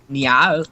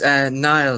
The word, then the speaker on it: Niall: Niall. Y'all? It's Nile, like the river.